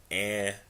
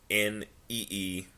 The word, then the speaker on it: anime: Well, the word is actually pronounced anime, or AHNEEMAY, which basically is an abbreviation of the word animation in Japan.